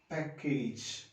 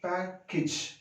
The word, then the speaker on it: package: Similarly, another very common word, package. It is read like that, wrong pronunciation. It is to be read package. So this is the sound for symbol for A. So it is package.